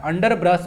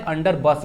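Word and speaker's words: underbrush: अंडर ब्रश है, अंडर बस नहीं, ओके ना, अंडर ब्रश ही है, स्पेलिंग में जगह गलत है, अंडर ब्रश होता है।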